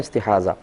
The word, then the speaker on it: استحاضہ: ضاد اور ہا، استحاضہ، اور اردو میں استحاضہ کہہ دیتے ہیں زے کے ساتھ، تو یعنی ہے ضاد ہی لیکن اردو میں ہم زے کے ساتھ تلفظ کرتے ہیں استحاضہ۔ استحاضہ کا مطلب ہی